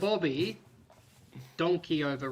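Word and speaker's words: Bobby Decordova: Bobby donkey over is how his name is pronounced.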